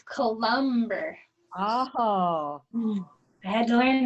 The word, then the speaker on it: Cullenberg: It's Columber.